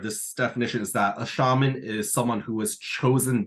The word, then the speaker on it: shaman: It came to the English language actually from Russian Siberia, from one of the tribes there that uses the word shaman, or saman as it's pronounced.